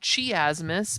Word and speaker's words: chiasmus: Yes, it's spelled chiasmus, but it's actually pronounced chiasmus.